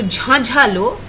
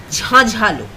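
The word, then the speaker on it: ঝাঁঝালো: Notice that the N's are in bracket, so they are not pronounced fully. In written script, they are written with Chandra Bindus, and they are pronounced as Jhajhalo.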